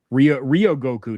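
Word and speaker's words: 両国: Ryogoku, not Rai.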